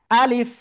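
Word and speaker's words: ألف: দেখেন আপনার হচ্ছে আপনার হচ্ছে এরকম আলিফ এরকম বলা যাবে না এইযে এইযে আমার দিক তাকান আলিফ ইয়েস আলিফ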